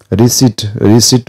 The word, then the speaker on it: receipt: Receipt ma chha ni P silent huncha.